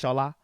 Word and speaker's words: Shola: That's not how I say mine. That's not the true pronunciation of my name. It's Shola.